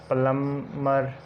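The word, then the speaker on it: plumber: टॉम, इसी तरह डम, लैम, लिम, इसी तरह प्लम्बर और थम। और एग्जाम्पल जो टी से पहले बी साइलेंट होता है, जैसे आ जाता है डेट, डाउट।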